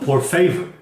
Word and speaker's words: por favor: No, por favor. The emphasis is on the fe.